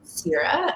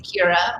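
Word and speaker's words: Ciara: So it's Gaelic and okay, 2 syllables. So if I am in Ireland, they say Kira, but my parents decided on Sierra, like the Goddess of Grain series.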